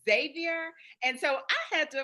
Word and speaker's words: Xavier: just politely told that I have been pronouncing it Xavier with my Southern Belle accent, and it's Xavier.